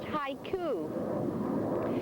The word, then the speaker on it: haiku: It's it's a Japanese word and it's pronounced haiku. And ha coup is a form of poetry that's usually not always but usually written about things in nature.